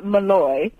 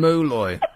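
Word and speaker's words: Moloy: Anyway, his name is Malloy, or Mulloy. Let's call him Mulloy. I've just got that. It's spelled M-O-L-O-Y.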